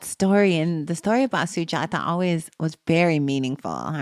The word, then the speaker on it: Sujata: important part of the story of the Buddha, Sujata. Am I pronouncing that Mhm.